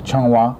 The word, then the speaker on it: Zhonghua: How do you spell that? C-H-O-N-G. C-H-O-N-G. W-A. W-A. Benevolent. Okay, it's Zhonghua.